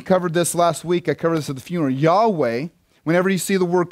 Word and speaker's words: Yahweh: this at the funeral yahweh whenever you see the word capital l-o-r-d all caps that's the personal name of god yahweh also sometimes pronounced jehovah all right but yahweh